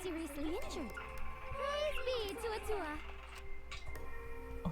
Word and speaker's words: Atua: Praise be to Atua. Oh, it's pronounced Atua.